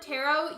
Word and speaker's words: tarot: word tarot you um just say it like you like you drop the t sound but the t has to be included when you spell it so t-a-r-o-t spelled like that but you don't say the t at all it's just there it's